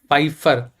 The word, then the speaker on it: Pfeiffer: seen in Pfeiffer syndrome Pfeiffer Piper my p is silent Pfeiffer syndrome fgfr1 gene